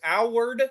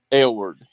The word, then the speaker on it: Award: Is this Howard? Is that how you pronounce his name? Award. Award. This is Award.